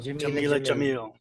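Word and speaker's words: Jameela Jamil: Jamila Jamil.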